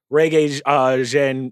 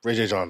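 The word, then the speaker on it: Regé-Jean: Winston Duke as Gimli, Reggae Jean. How do you say his name? Ray J. John. I just said Reggae Jean Page as Legolas.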